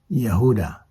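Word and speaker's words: יהודה: The combination was done in such a way that the letters were interfaced to form the name, pronounced Yehuda, meaning praise Yahweh.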